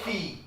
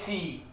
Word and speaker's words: filles: Singular also fee. We pronounce it as fee. Plural also we pronounce it fee. But we write the S.